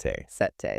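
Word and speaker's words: setae: Sete. That's spelled s e t ae.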